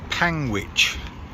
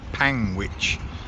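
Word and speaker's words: Panguitch: So the town's name is Panwich, like sandwich, but Panwich.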